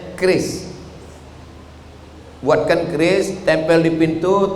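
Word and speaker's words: QRIS: Curis. Cara bacanya keris.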